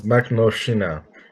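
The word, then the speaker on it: Makhnovshchina: I can't remember how to pronounce it, All right, but I got it. I got yeah, it. It's Makhnovschina.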